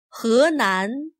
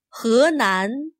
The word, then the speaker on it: 河南: 河南, 湖南. Notice that he is not pronounced as he. This Chinese word for river sounds more like he. He, 河南.